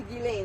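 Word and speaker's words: Ghislaine: Gilain. Guilain. Whatever. What is it? Guilain. Gilain. Yes. Is I think it's French. Is it Gileain? It's Guilain.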